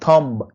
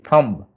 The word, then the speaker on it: thumb: You can see B is silent. Lamb. Thumb. It's not thumb. We always say thumb.